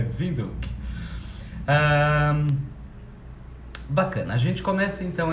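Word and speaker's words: Windhoek: muitas cidades na evito apesar de parecer windy hawk né se a gente fosse ler em inglês não a pronúncia correta é vidro bacana a gente começa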